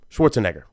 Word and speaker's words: Schwarzenegger: so Schwarz and Egger Schwarzenegger Schwarz and Egger bam you know what I